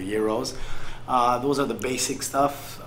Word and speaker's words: gyros: The gyros, not Gyros, gyros. right? They pronounce it gyros, but it's the gyros.